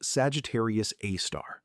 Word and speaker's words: Sagittarius A*: It is called Sagittarius A*, pronounced Sagittarius A*, and it is 26,000 light years from where you are sitting.